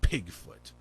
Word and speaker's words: Pigfoot: And I had to say, please pronounce the P, so it's Pigfoot.